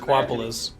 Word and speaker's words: Aquapolis: I thought you guys were just identically mispronouncing Acropolis. Oh, no. It actually is That's Aquapolis.